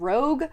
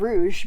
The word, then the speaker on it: Rouge: in my mid-year freakout, I mispronounced it and said Rogue. I knew it was called Rouge because it's a Snow White retelling, but for some reason Rogue is what came out of my mouth.